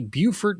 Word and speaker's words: Beaufort: But the big winner seems to be Beaufort, North Carolina at 17 inches.